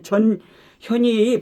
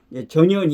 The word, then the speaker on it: 전현희: 전현이 하고 이게 이제 전 현이의 발음을 정확히 해야 됩니다 잘못하면 뭐 저 저년이 그년이 이년이 이렇게 될 수가 있습니까 그니까 전현희 이렇게 띄워서 전현이 이렇게 전현이 이제 이렇게 34가 나오고